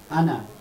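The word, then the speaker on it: أنا: আনা, এটা এটা আলিফের লেখার সময় আসবে কিন্তু উচ্চারণের সময় আসবে না।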